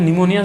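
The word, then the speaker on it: pneumonia: English में कहते हैं इंग्लिश में लिखने से फीस साइलेंट हो जाएगा और लिखेंगे निमोनिया और का ऋणी मुनिया रोग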